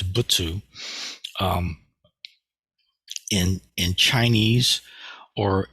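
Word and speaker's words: 仏: uh characters that is pronounced with two syllables so it's butsu um in in Chinese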